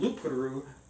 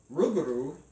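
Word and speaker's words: loup-garou: the Beast changed from lupuru also spelled Rouge garu rugru and it sounds so cool when you roll your R which I can't do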